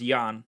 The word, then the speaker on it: Jan: policeman his name is jan it's actually pokemon challenges i think his name's pronounced yan not jan but i'm sure he probably wouldn't mind anyway because it's a common mispronunciation let's see if you